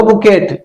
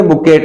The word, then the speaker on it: bouquet: क्या बोलेंगे इसको? स्पेलिंग देख करके बोल लो बुकेट. ये बुकेट है. अरे श्रीमान ये बुकेट नहीं है, इट्स बुके.